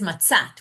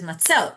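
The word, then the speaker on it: מצות: It says it, you read it as Matzat, which is singular, even though you read it meaning that's the way it reads. Even though you really read it, you pronounce it as matzot.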